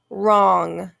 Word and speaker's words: wrong: the m sound okay and the next one wrong wrong w-r okay we don't hear the w but we hear that r sound so the w